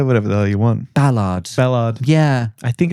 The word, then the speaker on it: Ballard: Let's welcome this week's wonderful guest, Tom Ballard. Hello, Sam. How are you? Is it Ballard or Ballard? I say Ballard. Ballard. But you can say whatever the hell you want. Ballard.